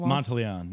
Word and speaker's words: Monteleone: Monteleone. Yeah. Monteleone. It's fine. Monteleone is like, I think, the real Italian way to say it.